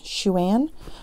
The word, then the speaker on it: Xuan: right still yet but I think it's Xuan Xu a n shoe an I even put it online and googled how to say it I'm trying but it's a Chinese name so that's cool and